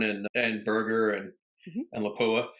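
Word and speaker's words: Lapua: over at Capstone and and burger and and laua it's actually pronounced laua laua is that for real laa yeah that's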